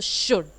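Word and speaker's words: should: शुद्ध-शुद्ध बोल तो आप यानि कि चाहिए तो शुड slide S एच ओ यू एल डी में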